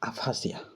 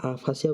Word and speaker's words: aphasia: खत्म 100 number ward गला next आसला आपाथी गला आफासिया APHASIA 101 नंबर वार्ड आसला आफासिया यार मीनिंग